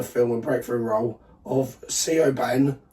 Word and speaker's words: Siobhan: Like you said, it was the first cinema film and breakthrough role of Siobhan. Siobhan. She should spell it properly then.